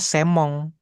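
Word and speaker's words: 専門: Bacanya semong gitu ya. Ketika kita ngomong bacanya semong. Jadi M-nya doble di sini dibikin M juga ini jadinya.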